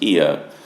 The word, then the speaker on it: Oia: Aegean, which is where we are, that's spelled O-I-A, but pronounced Aegean, is perhaps the most picturesque of those towns.